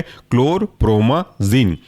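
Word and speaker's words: chlorpromazine: इसके अंदर का एग्जाम्पल है क्लोरप्रोमाजिन। स्पेलिंग ऐसी है क्लोर CHLOR क्लोर, प्रोमा PROMA प्रोमाजिन ZINE।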